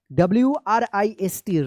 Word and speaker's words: wrist: One boy had a wrist, WRIST, wrist, ध्यान रखिएगा R से पहले अगर W आता है तो W जो है ना साइलेंट रहता है, wrist, watch, WATCH, watch,